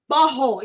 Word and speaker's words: butthole: You're not saying it right. It's butthole. You got to drop the T.